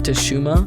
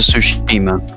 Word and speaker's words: Tsushima: had a ghost of teshuma and tsushima don't know if i'm pronouncing it correctly or not no it's a tsushima it's pronounced tsushima tsushima right um tsushima